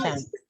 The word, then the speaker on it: content: So you got two words with the same spelling and a different intonation, but the meaning will change.